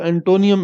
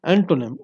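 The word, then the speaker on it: antonym: कुछ हमारे अजीज़ तलबा व तालिबात जिनको प्रोनाउंसिएशन का मसला है, ठीक है जी, वो इसको एंटोनियम एंटोनियम पढ़ते रहते हैं। एंटोनियम, एंटोनियम कोई लफ्ज़ नहीं है, एंटोनिम OPPO, मैं आपको यहाँ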